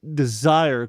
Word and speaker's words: Dezire: I am desire. Correct. See, Senor, that is how you say my name.